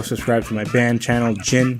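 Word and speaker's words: Djinn: for my band channel chin which is DJI nn the D is silent you can find all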